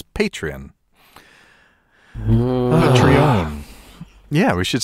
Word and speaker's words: Patreon: tweeting at us about mispronouncing patreon as patreon instead of as Patrian yeah we should say